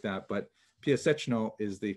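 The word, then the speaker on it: Piaseczno: town about 14 kilometers outside Warsaw, which is pronounced in Polish, Piasechno. Since there's a couple of sounds there that are hard to reproduce in both English and in Hebrew, it's sometimes rendered Piasechna and Piasechno, things like that, but Piasechno is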